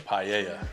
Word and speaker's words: paella: And again, this is the right pronunciation of what? The paella.